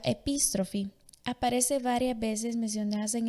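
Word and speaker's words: ἐπιστροφή: La conversión en griego se pronuncia epístrofe.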